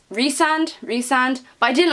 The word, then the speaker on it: Rysand: But I did reach the end of it and see how you were supposed to pronounce their names, and I pronounced his name wrong the whole way through. Of course you did, because you cannot read. Apparently it's Rysand, but I didn't like